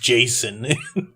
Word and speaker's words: Jacinto: It's will be like, not "Oh, they're in Jacinto. Austin." It's pronounced Jason.